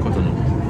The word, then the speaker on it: Cotonou: I keep saying that name wrong. Cotonou.